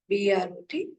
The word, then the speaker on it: Brot: So bread is called as Brot, B-R-O-T, Brot.